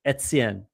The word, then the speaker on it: Etienne: Like the proper way to pronounce it, it'd be like it'd be like the word "it's" with it its ets, like Etienne. Like you'd really you definitely pronounce the e. It's not a, it's e. It's even like a Yeah, Etienne. yeah, kind of like EHTIEN.